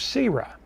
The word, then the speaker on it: Sira: And we told you the story of Sira. Yes, we know you probably pronounced it Sarah, but we pronounced the E because it is the family of E.